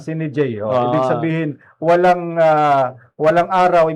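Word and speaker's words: sine die: tama ba yung pronunciation? Tama, Sini J.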